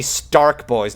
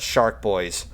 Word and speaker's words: Stark Boys: It's supposed to be Stark Boys, not Shark Boys.